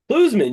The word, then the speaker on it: Klusmann: Klusmann? Klusmann, you nailed it. Klusmann.